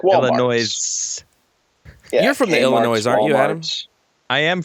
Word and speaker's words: Illinois: be here I think it's Galina actually from Illinois you're probably right is that right lot of lot of places that are pronounced weird in Illinois pronounced them weird Illinois did nothing just lean